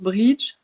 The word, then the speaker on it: Brighid: Là, je le prononce bridge. Ça m'arrive de dire Brigitte. Ça peut, voilà, c'est un peu mes deux prononciations, quoi. Parce que bridge, c'est la prononciation irlandaise.